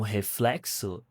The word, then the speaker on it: reflexo: É um reflexo, is a reflection. Reflexo, reflexo. This is the sound. Like French.